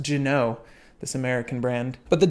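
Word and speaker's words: Ginault: gin oh I have it I'm told it's pronounced gin oh this American brand but the Genoa I have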